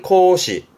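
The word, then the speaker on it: 孔子: 발음은 코시 코시요 구멍 공짜는 이거면 추분이 되세요.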